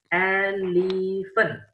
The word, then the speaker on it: elephant: Nah, cara bacanya itu elephant. Okay, say it together. Elephant. Elephant. Okay, elephant. Elephant. Elephant. Elephant. Okay, so dibacanya elephant bukan eleven ya. Kalau eleven itu angka 11.